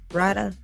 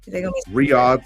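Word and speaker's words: Riyadh: the field on March 21st in how you pronounce that. Rada. Riad. Saudi Arabia. Riad.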